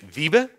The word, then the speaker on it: Wiebe: as I'm mentioning um well first let me pronounce my name my name is Viba and it's really a difficult name so just